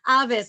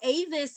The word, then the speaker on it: Avis: Avis, I would like to welcome you back to the floor. And to everyone, although Avis is a traditional pronunciation, this is Avis.